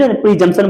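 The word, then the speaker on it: presumption: या फिर कल्पना करना prism spelling P आर E simple है जशन जंक्शन में पी का कोई उच्चारण नहीं है समझ प्री जशन बोलेंगे अनुमान लगाना या फ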